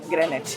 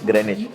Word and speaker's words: Greenwich: Greenwich. Greenwich. W is silent.